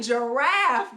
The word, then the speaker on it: giraffe: favorite animal is a giraffe good job now you see the G is beside an eye so it makes the soft G sound which is just so